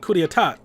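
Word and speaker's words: coup d'état: acts of terrorism and coup D etat I think that's how you right yeah I know the P is silent cuz I took French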